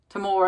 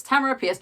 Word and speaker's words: Tamora Pierce: so I have been apparently saying Tamara's name wrong for years because I've been calling her like tomorrow appears that's its Tamara piers also she's back on